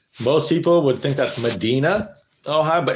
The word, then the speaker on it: Medina: because uh uh just south of me it m-e-d-i-n-a most people would think that's Medina oh hi but it's Medina Ohio so yeah